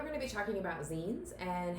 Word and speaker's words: zine: to make them so what is a zine that is spelled Zi and e it is like magazine but just the last part of the word zine started in the